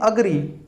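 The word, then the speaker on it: agree: एग्री, अग्री, एग्री नहीं अग्री, यहाँ हो गया अग्री।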